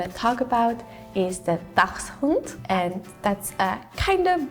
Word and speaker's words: Dachshund: It's similar, Dachshund, but you have more of like a Dachs.